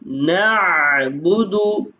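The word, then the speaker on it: نعبد: ইয়াকা নাস্তাাইন ইয়াকা নাবুদু নাবুদু আইনের উচ্চারণ সুন্দর করতে হবে নাবুদু ইয়াকা নাস্তাাইন ইয়াকা নাবুদু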